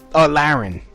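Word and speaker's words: Lahren: Laren. That's how you pronounce her name.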